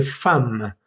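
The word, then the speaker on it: femme: Mujer se dice fama, como si estuviera escrito f a m e. Pero en realidad se escribe e m. En este caso, la em mm vamos a leerla ama. Ama, como ya lo dije, como la palabra FAM.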